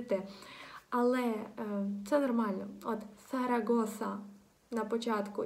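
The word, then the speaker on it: Zaragoza: Або хороше ще слово для того, щоб вам потренувати, це буде назва іспанського міста, яке називається «Сарагоса», «Сарагоса». На початку, коли ви зараз почнете вимовляти в голос ці слова, вони будуть звучати вам трохи дивно, так?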